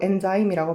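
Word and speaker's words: enzyme: 그런 다음에 걔네가 acquired, 습득하게 되는 건데 새로운 효소, 엔자임이라고 발음하면 돼요.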